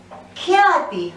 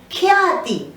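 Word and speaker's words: ख्याति: Khyati, half kha. Again, let me repeat, we just touch upon that half vyanjan. Khyati.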